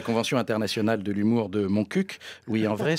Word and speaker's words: Montcuq: Moi, voire même, je n'ai pas peur d'être en infraction de la Convention internationale de l'humour de Montcuq. Oui, en vrai, ce petit village du Lot se prononce Montcuq, en pratiquant des jeux de mots interdits.